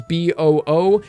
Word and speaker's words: Buu: looks like kid bu names rhyme with boo SL boo you know that's if you guys are wondering what that means in the original Japanese sub they refer to Buu as Bo oo and then obviously in